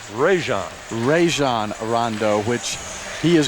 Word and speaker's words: Rajon: And we meet the walk-on, Eric Allen, out of Alabama, and on the pronunciation there, it is Rajon.